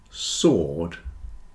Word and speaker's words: sword: listen Castle whistle listen answer and sword have no W answer sword answer and